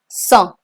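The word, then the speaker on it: cent: these Catherine those catroma trees cans katramasis wheat IES enough and saw the pronunciation of 100 is song if you found this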